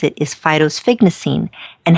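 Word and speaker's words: phytosphingosine: phytosphygmacine and how does it, and did I pronounce it correctly, and how does this help a pet skin? Yes, phytosphygmacine, or for obvious reasons we oftentimes refer to it as simple PS.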